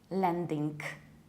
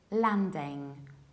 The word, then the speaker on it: landing: It is not landing, landing. It is landing, landing, with a very broad A, not a, and no final K.